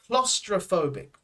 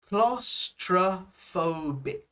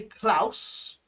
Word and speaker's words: claustrophobic: um claustrophobic i am claustrophobic right pronunciation wise pronunciation wise here is very important claustrophobic right um we don't say klaus um it's usually clos so more of an o sound claustra then in the